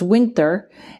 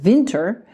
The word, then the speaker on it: Winter: It's Winter, but if you ask Alexa to play it for you, she pronounces it Vinter.